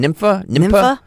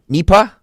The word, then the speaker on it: Nipah: Nympha? Not nymphomaniac. Right. Nympha. NIPAH.